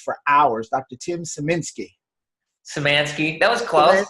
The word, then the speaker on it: Simansky: Simansky. That was close. That was close, like semantics. I got it. I can't believe it. You want to try that over? Simansky.